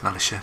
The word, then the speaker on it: militia: It is militia, don't pronounce it milita.